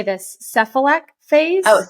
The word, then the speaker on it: cephalic: Cephalic phase? Oh, cephalic phase. Cephalic phase.